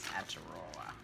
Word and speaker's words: Aotearoa: And I don't know how to pronounce it. Ataroa. Ataroa is Maori for New Zealand. So the Maori word for New Zealand is Aotearoa.